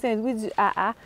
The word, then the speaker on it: Saint-Louis-du-Ha! Ha!: But it's pronounced "Saint-Louis-du-A-A."